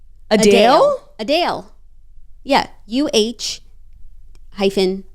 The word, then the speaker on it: Adele: said my name perfectly the correct pronunciation is a Dale not Adele a Dale a Dale yeah uh